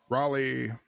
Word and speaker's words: Raleigh: I'm not going to say the city, because I always mispronounce it and Lisa always corrects me. Raleigh.